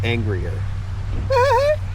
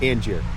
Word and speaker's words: Angier: It says angrier. Cuz how do you pronounce this out here? Angier.